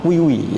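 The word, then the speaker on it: queue: Nah, untuk materi berikutnya anak-anak mungkin di pertemuan ke depan ya, minggu ke depan kita akan mempelajari tentang kiwi ya, kiwi bacanya seperti itu ya, atau antrian ya, antrian.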